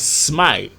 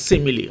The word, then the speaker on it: simile: Some people pronounce it as smile, but here we pronounce it as simile.